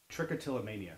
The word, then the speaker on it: Trichotillomania: Trichotillomania, that's how you pronounce it. Yes, it is. What is it exactly? Well, it comes from the Greek, trick meaning hair, till meaning pull, and mania, which means craziness or mania.